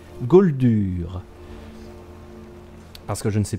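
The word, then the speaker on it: Gauldur: Google comment déclencher la quête de l'amulette de Gold dur gold dur ça s'écrit G a u lur r goldure parce que je ne sais plus comment la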